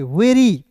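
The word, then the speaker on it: very: आर का र होता है, अब मैंने बोला अंतिम में वाई आएगा तो इसका उच्चारण ई के रूप में करेंगे, वेरी।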